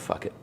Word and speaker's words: Phuket: And it's pronounced fuck it.